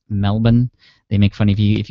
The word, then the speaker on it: Melbourne: of you who are in the us it's pronounced melbourne they make funny view if you say melbourne like i used to do i was corrected